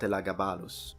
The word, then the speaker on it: Elagabalus: and as I mentioned absolutely not elagabalus gu that's how you pronounce it in Latin now talking about the